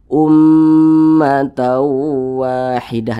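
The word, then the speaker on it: أمة واحدة: hukumnya ghunah musyaddadah lagi maka cara membacanya diunahkan jadi suaranya itu kita tahan kita panjangkan sejenak Ummat Wahidah Nah kita panjangkan Ummat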